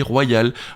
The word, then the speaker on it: royal: par exemple physique et comme une consonne puisqu'elle se prononce yeux appuyé royal mot dans lesquels le dictionnaire de l'accadémie française fait remarquer qu'il se prononce en fait comme s'il y avait deux y deux i pardon l'un faisant partie de la syllabe précédente et l'autre d'une syllabe suivante royale appuyé c'est pourquoi